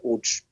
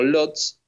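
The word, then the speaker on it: Łódź: Y en 1945, en marzo, se traslada a la ciudad de Uch. Es lo que muchas veces leemos como Lots, pero en polaco se pronuncia UCH.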